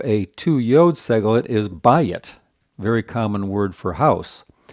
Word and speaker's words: bayit: An example of a two yod Segholate is bayit, very common word for house. It's got the same pattern. It's got a accented first syllable and it's two syllables, but notice that the vowels are very different.